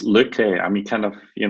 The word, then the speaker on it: Lykke: certainly first of all most importantly did I pronounce the name right Leah Kent is that correct it's Luke Lee I mean kind of you know some many